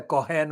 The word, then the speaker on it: Cohen: When the current post holder in the post of investigations editor at the London Evening, no standard, David Cohen, I say the Cohen with the pronunciation, Cohen, asked Lutfur Rahman in